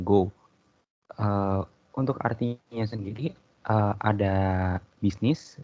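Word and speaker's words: 業: Untuk kunyominya dibacanya waza dan onyominya dibaca gyo dan go.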